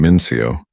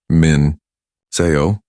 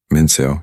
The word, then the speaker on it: Min-seo: "Min-Seo," Mrs. Davidson said, pronouncing it wrong. Several students giggled. "Mincio," she corrected gently. "It rhymes with so."